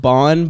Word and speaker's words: bean: in gaelic what's that it's pronounced bon but it's bean it's spelled bean b-e-a-n that's how you spell